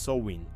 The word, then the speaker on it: Samhain: Este dia era conhecido como Samhein, pronuncia-se win.